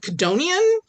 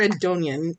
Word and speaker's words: Codonian: I I feel like one of these letters is silent. Like his name is either Ed Conian or Edonian and but Codonian and there's no apostrophe.